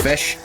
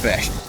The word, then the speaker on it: Ghoti: Just realized that in my bio it says pronounced fish. Yeah, it's almost my catchphrase. It's pronounced fish.